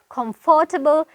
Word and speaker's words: comfortable: මේක ගොඩක් අය pronounce කරනවා comfortable, comfortable.